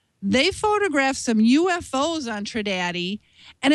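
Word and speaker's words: Trindade: pronounce this thing and it says to not say the end so tradat is is the way it looks like it's supposed to be pronounced tradat Island um they're only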